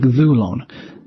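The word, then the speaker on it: δοῦλον: And there are some that are born with a circumflex on their penult, like dhulon.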